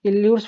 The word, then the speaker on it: Euler: लोग पढ़े हुए हैं, इल्यूर्स फार्मूला एक पढ़ते हैं बच्चों, क्या पढ़ते हैं, इलर्स फार्मूला या इल्यूर्स फार्मूला, जो आप जिस तरह से प्रोनाउंसिएशन कर सकते हैं, इलर्स फार्मूला या इलर्स